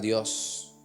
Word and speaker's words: dios: ser más fácil pronuncia la s al final dios practicando para ser más